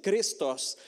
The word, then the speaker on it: Christos: Si vous voulez le prononcer comme un vrai grec, c'est Christos.